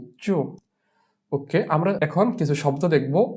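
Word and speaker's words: ciao: এরপরে হচ্ছে আমাদের ব্যতিক্রম, CEAO চাও, CEA চা। কারণ কি, যদি চি এরপরে ই থাকে এবং এরপর আ আসে তাহলে তার উচ্চারণ হয়ে যায় কি CEA চা। এরপরে শেষে আছে ও, CEAO চাও।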